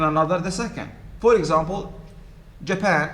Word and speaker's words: Japan: the by syllabic words in china which level is stressed the first or second china the first in japan the second and so there is no window first hotel second and so in english